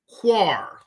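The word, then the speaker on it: Qar: Number 2, I want you to write Quar. Quar. And Koyataza is spelled Q-A-Y-A-T-A-Z-A.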